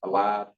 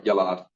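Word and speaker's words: ילד: He begot a lad, Alana, is that? alad, Yeah. alad. Was yalad. I'm sorry, yalad. Because you have the yod, my bad.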